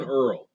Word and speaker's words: URL: my my website name this is called an Earl I think that stands for Uniform Resource locator but in matters uh it's spelled URL and I'm going to